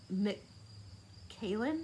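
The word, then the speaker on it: Macallan: advance what i do believe in money sex mckaylan i don't know how that's how you say her name it's m-a-c-a-l-l-a-n that's what the girl's name is 18.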